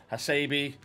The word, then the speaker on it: Hasebe: or so i'll reap what a show yeah hasebe that's how you pronounce it sharma or soulmark 87 piece uh